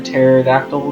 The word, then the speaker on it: pterodactyl: Hey, do you guys know why it's always quiet when a pterodactyl goes to the bathroom? It's because the P is silent.